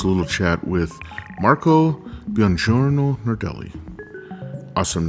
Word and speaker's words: Buongiorno Nardelli: His name is Marco Buongiorno Nardelli.